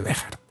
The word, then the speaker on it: Béxar: Bueno, en este San Antonio de Béjar tenemos otro caso de XJ, si lo hemos escrito leemos Béxar o Béxar, pero la pronunciación es con J.